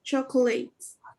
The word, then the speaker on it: chocolates: Give someone chocolates. Yeah, remember you have an object. Give someone Give some chocolates. And this one, you don't pronounce the O. The O is very soft, or maybe it's silent.